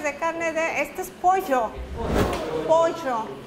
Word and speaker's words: pollo: carne de esto es pollo Poncho pollo atención con la pronunciación eh pollo no pollo pollo pollo pollo pollo